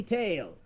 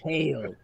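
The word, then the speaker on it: Tyle: their name call me tail i'm teo is that what you tell hello no no pronounce tail t-y-l-e tail what what brings you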